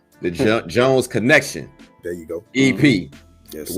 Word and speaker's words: The Jones Kenekshun: Let me make sure I'm pronouncing it right. The Jones Kenekshun.